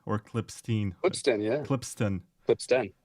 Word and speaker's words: Klippsten: Klippsten or Klippstein? Klippsten, yeah. Klippsten. Klippsten. It's not easy for me to pronounce, it's quite a mouthful.